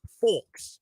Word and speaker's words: folk: Then I met people from Wichita who were like, yeah, why wouldn't you pronounce the L? Because it's English. Like, there's all sorts of silent letters. Merriam-Webster's only got one pronunciation for that. Folk.